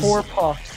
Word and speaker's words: Hoaprox: This is Hoaprox, like chicken pox and whore combined.